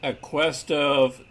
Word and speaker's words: Aquestive: little earlier on aqst i believe it's pronounced a quest of therapeutics this is a special